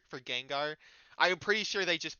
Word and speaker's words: Gengar: It's like the whole Arcanine thing and Gyarados and Janjar for Gengar. I'm pretty sure they just pronounce these things incorrectly as a bit.